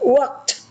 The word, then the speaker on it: walked: Okay, walk, walked, use, used, jump, jumped, look, looked, just like a T.